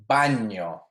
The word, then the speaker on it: baño: So we have a word like, let's see, piano. Good cognate, right? Piano. But we also have a word like baño. Baño. See the difference in those two words?